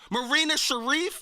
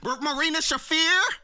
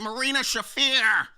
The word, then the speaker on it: Marina Shafir: Marina Share. I mean Marina Shafir. Remember last week I kept getting her name wrong. Well, I got it wrong again, but I'm getting it right. Marina Shafir.